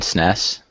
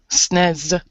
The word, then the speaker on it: SNES: Is it NES and SNES? NES, SNES.